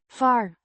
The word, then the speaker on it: waar: Waar, Means where, pronounced var. with a drawn out A, a relative pronoun that introduces a subordinate clause.